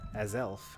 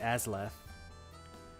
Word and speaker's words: Azelf: not spell that right it's uh as elf i've been saying it wrong for like 20 years or something like that i've always called it as left i have been mixed this